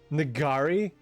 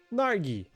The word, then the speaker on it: Nargi: Am I pronouncing that cat's name right even a little bit? Nagari? Nargi. Nargi. Oh, that's cute. Nargi. I was giving it a little bit too much.